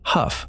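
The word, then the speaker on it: Hough: In July 1966, the Huff neighborhood of Cleveland, pronounced Huff for the out-of-towners, exploded into civil unrest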